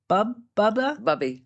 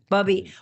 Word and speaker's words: Bubby: Is it Bubba? Bubby.